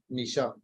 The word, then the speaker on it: Nisha: And I know the company are pronouncing the names wrong. N-E-I-C-H-E. That's S-H-E. Yeah. That's Naisha. And the next one, Nisha.